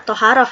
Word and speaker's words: Thaharah: najis masuk saja ya toharoh itu ditulisnya Thaharah tapi dibacanya thoharoh ya karena toharoh itu berasal dari bahasa Arab Sekarang kita akan masuk